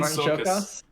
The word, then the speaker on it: Csokas: Martin Sokas. Martin Sokas. That's spelled Csokas, I believe.